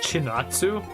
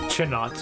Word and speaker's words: Chinatsu: Chinatsu? This is a strange name. Chinatsu. It's like China. I don't know. I know it's not pronounced like China, but it's still funny.